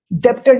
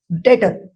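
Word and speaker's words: debtor: अब इसे डेप्टर नहीं डेटर बोलो क्या होता है डेटर क्या होता है बी साइलेंट होता है बी क्या होता है डेटर डेप्टर नहीं डेटर और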